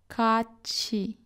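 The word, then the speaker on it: 같이: When followed by the syllable e, read them as chi, ka chi.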